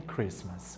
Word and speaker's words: Christmas: thanks Given Halloween and Christmas Ok repare que aqui na palavra Christmas esse te não é pronunciado Beleza a gente escreve